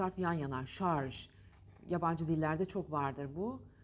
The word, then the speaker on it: şarj: İngilizce'den Fransızca'dan yabancı dillerden geçen kelimeler içtiyse doğru telaffuz edelim değil mi şarj Emelim o zaman şarj diyelim şarj bunu beyninize